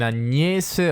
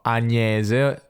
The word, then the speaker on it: Agnese: dello zucchero sentiamo che al nord le persone dicono agnese con una milanese non agnese di agnese manzianese sentiamo il